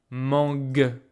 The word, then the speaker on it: mangue: The only difference is that because of this U, I pronounced a solid G, mangue. And because here there's no U, there's just this E, I pronounce mange, j.